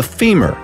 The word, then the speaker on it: femur: By the way, the strongest bone by all accounts is the femur, rhymes with lemur.